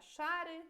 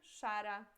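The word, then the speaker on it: szary: Para ser mais fácil para você pegar esta pronúncia já, entender por que eu falo char e não zar, por exemplo, ok?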